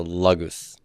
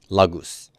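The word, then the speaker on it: λόγος: so log goose yeah Lagos the accent is gonna be on first syllable here so logos logos all right so there's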